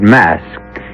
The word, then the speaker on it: Masque: The word mask, you should know, is spelled M-A-S-Q-U-E and means masquerade.